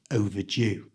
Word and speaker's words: overdue: common in English and the D is pronounced as a j sound so it's O overdue you try overw CH in this sentence the book is overdue in this Library the